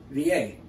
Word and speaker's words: Vie: And then next word is de, D-E, V-A. V-I-E. It's not V. That's French. Same spelling, same word, but it's pronounced V-A.